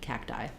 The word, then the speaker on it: cacti: this request was made I'm thinking about it like cap don't let that out and then cacti thinking that of this one as a little bit like a d cacti or you could say